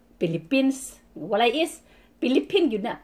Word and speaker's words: Philippines: Philippine yun na. Unlike kung tuwa ka sa kanang, like, in Makati, kung sa kuwan pa, mostly mga tao pronounce talagang Philippines, talagang may S.